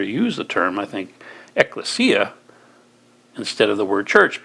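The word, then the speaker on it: ekklesia: the Greek word eklesia in the past I pronounced it differently but eklesia that Greek word eklesia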